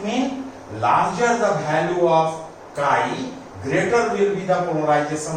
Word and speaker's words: chi: or P equal to, this symbol is called chi, written as XAI, and its pronunciation is chi or xi, and its spelling is XAI, epsilon naught E.